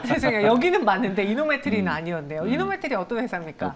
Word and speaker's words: 이노메트리: 이노메트리 어떤 회사입니까? 발음을 좀 조심하셔야 됩니다. 이노메트리 이렇게 끊어내기 이노메트리, 이노메트리. 잘못하면 욕처럼 들릴 수 있어서.